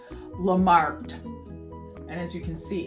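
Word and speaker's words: Lamarthe: And it looks like it's Lamarck, M-A-R-T-H-E, but you do not pronounce the H, so it's pronounced Lamarck.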